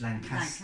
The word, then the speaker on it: Lancaster: You have to pronounce it as Lancaster, Lancaster. rather than Caster.